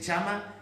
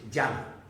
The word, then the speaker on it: llama: Hay una segunda versión cheísta, que es la que más se ve ahora, por lo menos en Bavia, que es chama, pronunciada como en castellano, con una CH. Y luego está la versión castellana, que es llama.